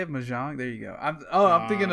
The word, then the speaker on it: Mahjong: Mahjong?